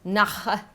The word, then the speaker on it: Nahe: Emma Reichardt dry Riesling from the Nahe region of Germany. Na ha. N-A-H-E. You just don't really pronounce the e but you also don't not pronounce it.